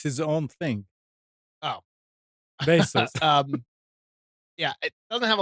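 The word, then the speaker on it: Baseus: name and the brand name is not Base US, it's Basis. Is that how it's pronounced? No, it's his own thing. Oh, Basis.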